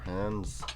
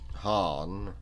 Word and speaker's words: Khan: mulan's monarch i mean with no hard c sound it would be han instead of khan hey hey and apparently